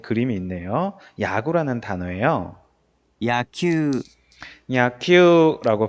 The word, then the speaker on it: 野球: 우쿠스츠누 후무유루의 우단음인 유 뒤에 우가 오면은 야큐우라고 읽지 않고 큐를 두 박자로 읽어줘요.